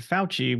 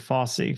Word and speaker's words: Fauci: His last name was Fauci, although we didn't pronounce it Fauci, we pronounced it Fossey for some reason.